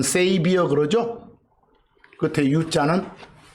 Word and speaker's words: saviour: 쓸 때 끝에 URL 자는 빼고 쓰기도 합니다 발음은 세이비어 그러죠 그때 u자는 안 써도 됩니다 이사야서 43장